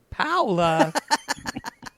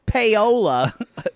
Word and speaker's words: Paola: okay goes to um Paola Paola Paula not Payola Paola oh God y'all Oinky